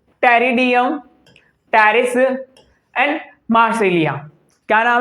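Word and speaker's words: Pteris: जैसे कि टेरिडियम, terrace and मार्सेलिया। क्या नाम है बेटा? टेरिडियम, terrace and मार्सेलिया। ये पी साइलेंट है।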